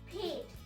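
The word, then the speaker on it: पेट: Now in Hindi, it is pronounced as pait, P-A-I-T. To remember, it's similar to pet, P-E-T, which is an animal, like a dog, a cat.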